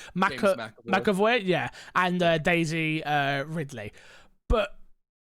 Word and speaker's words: McAvoy: McAvoy, yeah, and Daisy Ridley, but who are new additions to the game.